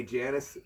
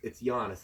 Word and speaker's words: Giannis: I always say Janice, but it's Giannis. I think.